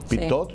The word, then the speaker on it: Pitaud: Pitot, sí. Yo trato de decir en francés más o menos.